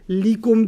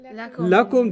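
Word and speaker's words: لكم: So you don't say likum dinukum waliyadin. Okay. What do you say? Lakum dinukum.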